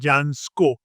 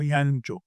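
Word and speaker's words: Jancsó: यांचो हे त्याचं स्पेलिंग वाचल्यानंतर JANSCO म्हणजे जान्स्को. जान्स्को नाही, त्याचं नाव यांचो.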